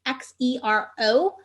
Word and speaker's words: Xero: programs are QuickBooks Online, Xero, which is spelled with an X, it's Xero, is Xero. And then the last one is Wave, WAVE, which also has an app.